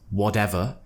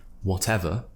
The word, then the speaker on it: whatever: people join my British pronunciation course and they pronounce the word whatever and the word British as whatever and British obviously that's not what we want to do we want to say whatever and British so I want you to create